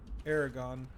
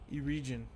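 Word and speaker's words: Aragorn: because that array Gyan i always pronounced it aragon and most people I've ever heard pronounced it a region I'm not sure it's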